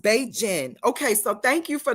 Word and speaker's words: Beijing: Great said it's pronounced Beijing.